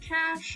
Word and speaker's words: cache: It's properly pronounced cash.